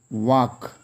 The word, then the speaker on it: walk: The first one is walk, W-A-L-K, walk. Here L is silent.